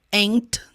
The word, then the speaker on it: ain't: Ain't, não tem o T na pronúncia.